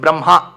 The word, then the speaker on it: Brahma: to add one aaram it's not brahma it's braha right a you have to put but when you write it in that order you say brahma so technically if you pronounce it you should say brh But pin rule states for brahashabdam alone it has to be reversed the pronunciation. So you write it as ha and ma but you should pronounce it as ma and ha braha but you should